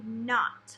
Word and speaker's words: knot: Which one has a letter that you don't say? It's going to be this one right here because we don't say the K.